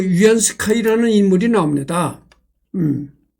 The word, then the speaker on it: 위안스카이: 여기에 보면 그 위안스카이라는 인물이 나옵니다. 음.이 이 위안스카이가 누구 뭐냐면은 어 중국 발음으로 위안 스카이라고 하는데 한문 발음으로는 우리나라 한문 발음으로는 그 뭐라고 하냐면은 지금 내가 원세계입니다.